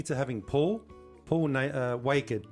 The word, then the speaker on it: Waked: having Paul Paul uh wed rhymes with naked so welcome to the